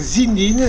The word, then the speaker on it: Zindine: Je m'appelle Zindine, il n'y a pas d'accent nulle part, ni écrit ni prononcé. Voilà, et non pas Zinedine. Donc Zindine, je suis bouliste, golfeur, tennisman et pongiste.